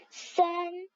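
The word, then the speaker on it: 三: 3 en chinois, ça prononce san.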